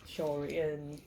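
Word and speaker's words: 鍾離: Now Zhongli, they call them shori. That's how you pronounce it.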